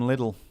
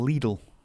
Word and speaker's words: Lidl: yeah inflatable gusts 149 from Little or Lidl as it's actually pronounced wow what a plug